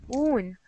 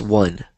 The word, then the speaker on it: won: Yeah, I know this meaning, but I thought that it's pronounced oon. No. They're both pronounced one.